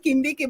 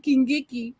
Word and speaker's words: Kindiki: So the guy is called Kindiki, but she said Kingiki.